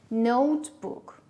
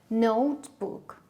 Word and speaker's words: notebook: syllables are there two where is the stress we have double stress here notebook notebook a book book book